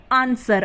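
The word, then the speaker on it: answer: हैं उसी तरीके से ए एन एस व र आंसर अब आंसर में भी व ए रहा है लेकिन यहां पर भी व क्या है साइलेंट है यानी की व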